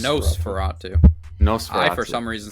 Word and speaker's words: Nosferatu: way I do so is it not nas Fatu no no it's no Fatu no I for some